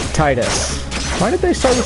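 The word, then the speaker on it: Tidus: they're trained to make so we say Titus because teetus sounds dumb in English just us I will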